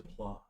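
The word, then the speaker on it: Plause: spell it like, that's not how you, did you spell like pause and just put an L in there? Yeah. P-L-A-U-S-E. Yes. I did PLAUS. Like claws.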